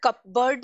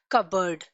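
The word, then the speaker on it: cupboard: For example कबर्ड। ठीक है, कबर्ड, हम इसको कपबर्ड नहीं प्रोनाउंस करते, we pronounce it एज कबर्ड।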